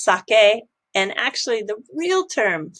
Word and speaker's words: sake: This is a pop-up bar in Shibuya, and they are focusing on what's called sake in United States, but it's pronounced sake.